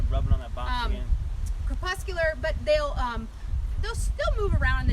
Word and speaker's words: crepuscular: But they're crepuscular.